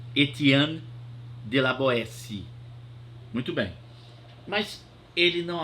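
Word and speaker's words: Étienne de La Boétie: se pronuncia desse jeito se escreve étienne Etienne de la boetie e mas se pronuncia este ano de laboeci muito bem mas ele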